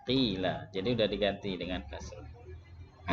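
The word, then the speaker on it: قيل: Kuila dibaca qila.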